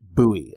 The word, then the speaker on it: Bowie: Did not fail this Christmas and got me this incredible Confederate Bowie. And I'm going to say Bowie because it's from the South and that's how they say it down South.